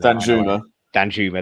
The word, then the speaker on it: Danjuma: I've murdered the pronunciation of his name. Danjuma, that's it. I've murdered it. I keep Ben Rama, Danjuma, well, it could be